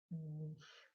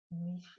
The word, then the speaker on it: niche: to talk to you about Niche or if you're American Mitch so apologies if the sound is not quite what you're used to but Niche is how I will be pronouncing this throughout this video anyone who is successful